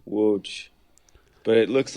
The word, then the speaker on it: Łódź: It's spelled with an L, but you keep telling me it's not Lotz. It's Łódź. It's an L with a slash through it, which is more like a W, but it's Łódź.